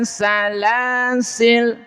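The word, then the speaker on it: سلاسلا: Tapi jika terpaksa wakaf, maka lanya boleh dibaca sukun atau panjang satu alif.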